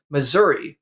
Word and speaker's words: Missouri: him coming in from Missouri or missou depending on which side of the river he's on uh Big